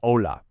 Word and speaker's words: hola: Now, the key thing to remember with the pronunciation here is that the H is completely silent. So, you just say hola.